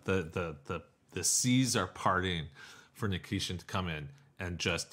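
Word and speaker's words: Nikishin: There's no K at the end. Nikiskin.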